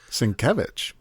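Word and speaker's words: Sienkiewicz: okay well I recognize Bill Switz svich yeah svich yeah that's how it's pronounced son of a billson kevich is one of the folks who created Legion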